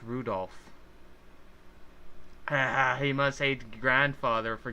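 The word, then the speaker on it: Rudolf: I'll tell you that that mess of characters is pronounced Rudolph he must hate grandfather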